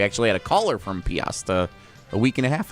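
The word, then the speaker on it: Peosta: Is it Lancaster, Paosta? Piasta, I believe is how we say that.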